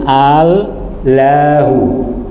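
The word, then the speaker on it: الله: Kata orang Arab kalau diungkapkan begini berat, maka alifnya dibuang menjadi al-lahu. Al-lahu. Kemudian cara pelafalannya itu diungkap dengan bacaan tafkhim, yaitu Allahu.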